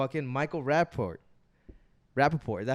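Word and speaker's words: Rapaport: from new york michael rapport rappaport is that how you pronounce it oh yeah he's from new york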